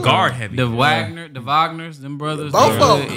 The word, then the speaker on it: Wagner: The Wagner, the Wagners, them brothers. Both of them. Yeah. What? How you pronounce it?